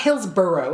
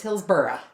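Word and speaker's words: Hillsborough: been there you know it doesn't matter how it's spelled it's burough not burrow it's not Hills burrow it's Hills burough it's like if you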